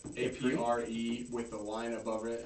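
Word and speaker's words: Après: A-P-R-E with the line above it and then S. Yeah. Yeah, that's Apre. Okay. That's how it's pronounced.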